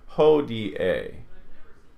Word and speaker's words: hodie: Likewise, IE is not a diphthong. They're pronounced separately. Hodie.